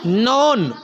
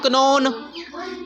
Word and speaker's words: known: अब बताओ, KN कनो बनता है ना, KNOWN बनना चाहिए, कनोन। तो क्या ये कनोन पढ़ा मैंने, क्या वर्ड है ये, नोन। क्या वर्ड है, क्या वर्ड है, तो नोन में तो फिर मतलब N से शुरू हो रहा है, नोन, NOWN, नोन, NOWN, मतलब K के पढ़ तो नहीं रहे हम, लेकिन लिखना है, ये